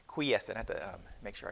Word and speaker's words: quiescent: I think I said, did I say quiescent, or I forgot how I pronounced it last time. But it's quiescent.